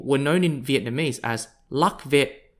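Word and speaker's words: Lạc Việt: earliest vietnamese people were known in vietnamese as luck vet spelt l-a-c-v-i-e-t or pronounced in chinese as lo spelt l-u-o-y-u-e the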